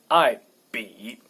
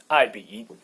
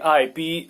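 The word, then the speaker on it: 爱彼: I be. I guess most English-speaking people or any European language-speaking people can pronounce these two syllables easily.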